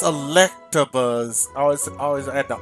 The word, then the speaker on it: Electabuzz: Oh, I always pronounced it wrong over the years. It's Electabuzz. I always add the R at the end. After the T, they talk about Electabuzz. It's Electabuzz.